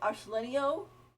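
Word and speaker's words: Arlecchino: I want to get Arselenio.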